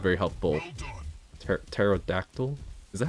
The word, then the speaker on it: Pterodactyl: Pterodactyl? Is that how you spell it? The P is silent, right? Pterodactyl.